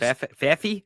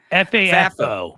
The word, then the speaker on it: FAFO: FAFO? FAFO? It is. FAFI? FAFO. Yeah, FAFO. Here's what I want the audience and maybe to convince other commentators of this, is that we can have FAFO.